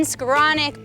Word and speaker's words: Skowronek: our fabulous rookies here one and only skaronic that was a good way to pronounce my name thank you do you have